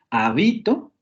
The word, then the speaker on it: habito: Si aparece en la segunda, habito, se refiere a otra cosa.